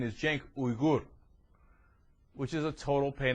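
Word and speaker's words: Cenk Uygur: don't know if you know this but I'm Jen yugur Salam alayum the real pronunciation is Jen ugur which is a total pain in ass who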